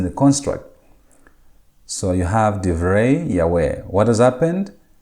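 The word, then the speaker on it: דִּבְרֵי: So you have divrei Yahweh. What has happened? The plural ending has changed from im into sereyod. And the second consonant, the second syllable, has reduced from kametz into shua.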